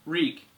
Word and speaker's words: Reek: to theon's character later ding reek it rhymes with Meek list all the things